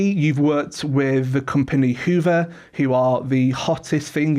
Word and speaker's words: Hyvä: People people want to say Hiva because the way it's spelled but it is Hoover.